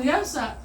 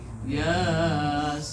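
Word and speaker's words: يس: Tapi bukan yasa dibacanya, tapi Yasin.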